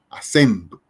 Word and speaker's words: acento: En el caso de acento, tenemos 1, 2, 3 sílabas, to, sen, a. Y entonces el acento, aquí la fuerza de acentuación, la fuerza tónica la hacemos en sen, acento.